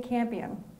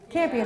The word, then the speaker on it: Campion: president Madonna or president Jane Campion is how you say her name champion right now it's not like a silent show so Jane Campion if